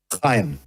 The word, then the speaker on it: Chaim: Chaim. Chaim. That's how you say that? That's how you say it, Chaim. You see, phonics doesn't always work for your names over there, does it?